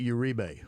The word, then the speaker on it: Uribe: say your last name uh you say Uribe Uribe because I'm not gonna lie to you